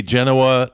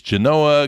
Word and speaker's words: Genoa: And they named it after Genoa, Italy, but in true Nevada tradition, they had to pronounce it a different way. So if you're around a local and you say Genoa, they're going to say, no, it's Genoa, get it right.